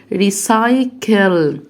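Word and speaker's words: recycle: طيب الاي والاي والواي، هنا عندي حرف السي جه وراه ايه؟ جه وراه واي، يبقى هنطقه س، يبقى ريسايكل يعني التدوير.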